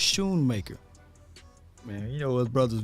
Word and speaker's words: Schoonmaker: So it's Schoonmaker. The C is silent. I appreciate you saying, Jay. So it's Schoonmaker.